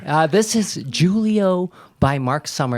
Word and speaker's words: Julie-O: This is Julio by Mark Summer. It's spelled Julie-O, and it was written by Mark,